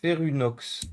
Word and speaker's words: Ferunox: Ça se prononce Ferunox.